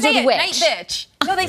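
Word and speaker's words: Nightbitch: Night bitch. No, they said I could say it in my ear. Oh, okay, there you go. It rhymes with witch, bitch.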